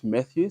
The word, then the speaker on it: Mathews: instance my name is matthus right so methus is is spelled methus but it can be no it's pronounced as methew but spelled differently right so if you